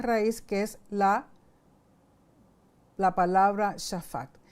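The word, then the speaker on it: שפט: Y aquí tengo un ejemplo de la palabra shafat. La palabra shafat consiste de una shin, de una fei y de una tet. Significa juzgar o gobernar, como un verbo. Cuando se pronuncia shefet, significa juicio.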